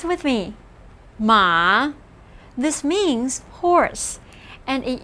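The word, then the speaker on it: 马: characters that have to do with transportation ma pronounce with me ma this means horse and it used to be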